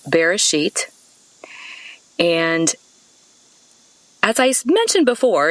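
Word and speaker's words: בראשית: you about that word beginning in hebrew it's pronounced bereshit and as i mentioned before in these talks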